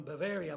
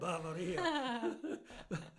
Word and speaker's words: Bavaria: Trisa province of Veno it was called Bavaria people no problem is spelled the same as the German Bavaria but it's it's called Bavaria yeah and then a lot